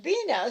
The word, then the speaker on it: Bina: I always thought that was the way you pronounce her name until I met her one time. And I should have realized that her name Sabina, the last part of it is pronounced Bina, so that's how you pronounce it when she's just using the B-I-N-A.